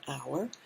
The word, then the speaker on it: hour: say ah european and here we say an hour because the sound is our that's a vowel sound okay so let's check